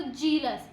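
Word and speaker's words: zealous: यहाँ पे जेड है, तो जेड को यहाँ पे हमें प्रोनाउंस करना है, तो उसको जीलस, जेलस, जीलस, थोड़ा सा इस तरह से बोलना है, जीलस, ऐसे करके बोलो। जी की साउंड आएगी इसमें, जीलियस। हाँ, इस तरह से आएगी, थोड़ा सा ज से थोड़ा सा अलग प्रोनाउंस करना है इसको, जेलस, जेलस।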